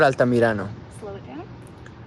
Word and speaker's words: Altamirano: this file is because i voiced it differently than it was voiced in his ufc debut so you guys are going to be my tie breaker today cody marrow um first name victor who am i talking about so i believe it's victor altomarano okay so cody said victor alta morano let's let's hear the file victor altamirano victor altamirano al magnifico altamirano